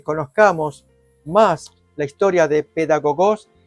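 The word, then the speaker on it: παιδαγωγός: Entonces, allí leemos ayo, aquí lo podemos mirar, es la traducción de la voz griega pedagogos o paidagogos, pero la pronunciación es pedagogos, que significa el que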